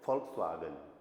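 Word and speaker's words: Volkswagen: वी को फाउ बोलते हैं जर्मन में, राइट। एक वो जर्मन कार होती है फॉक्सवागन, सुना आपने, ठीक है। तो उसको वैन ही साउंड करना है, उसका सही प्रोनाउंसिएशन है फॉक्सवागन, ठीक है।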